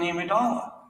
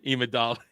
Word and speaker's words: Amidala: And it's the same thing with Queen Amidala. Even though she has Jedi He just pronounced his own character's name wrong. Immediately. Imidala.